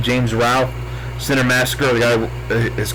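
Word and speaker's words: James Rolfe: Nerd or James Ralph I think you pronounce his name James Rao Center Massacre the guy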